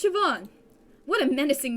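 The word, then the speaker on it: Siobhan: I've ever seen what about the hallway portrait shoban shoban it's pronounced shoban what a menacing name says here that she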